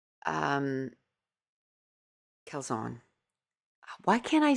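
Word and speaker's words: Karlzon: And then I ordered from Hannah Kzon or Kzone. Um Kzon, why can't I say her name? It's not Zone. It's Zon.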